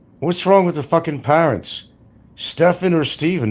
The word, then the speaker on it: Stephen: But it's still pronounced Steven, right? Then why did they spell it Stephen instead of Stefan?